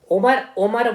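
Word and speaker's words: Omar: ठीक है, कौन है, उमर अब्दुल्ला, ठीक है ना, उमर बोला जाएगा, अगर आप स्पेलिंग देखो तो ऐसे लिखा जाएगा उमर, लेकिन मैं आपको प्रोनाउंस कर रहा हूं उमर अब्दुल्ला।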